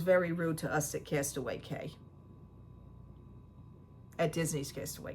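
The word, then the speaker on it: Castaway Cay: They pronounce it Castaway Key, even though Key is spelled C-A-Y.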